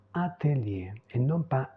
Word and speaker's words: atelier: secret secreto le dernier c'est un mot français qu'on utilise en italien et on le prononce comme ça atelier et non pas atelier atelier donc pour résumer